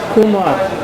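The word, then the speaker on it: Khmer: supply of fish enable the Kumar here it is spelled as kme kings to pursue an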